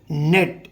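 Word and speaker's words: knelt: On seeing देखकर, the snake सांप को देखकर, कालिया नेट, इसे गाइस नेट पढ़ेंगे, कनेक्ट नहीं पढ़ेंगे, के यहाँ साइलेंट हो जाता है, के को मैंने काट दिया।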